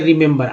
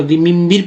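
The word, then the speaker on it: remember: अगर सिर्फ ई उच्चारण होता, सिर्फ अगर ई को ई उच्चारण करते तो रिमिम्बिर पढ़ते हैं, गलत, जो कि गलत हो जाता।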